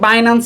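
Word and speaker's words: Binance: নয় আরেকটা সম্ভাবনা আসার ইচ্ছা আছে সেটা হচ্ছে বাইনান্স আসতে পারে বাইনান্স আসতে পারে কারণ তাদের সাথে একটা কলাবোরেট করেছে অনেকে বাইনান্স কে বিনান্স বলে থাকে সো বাইনান্স বিনান্স যে যে ভাষায়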